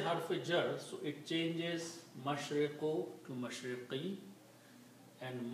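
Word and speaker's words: مشرق: If we stop, we pronounce them mashriq, maghrib.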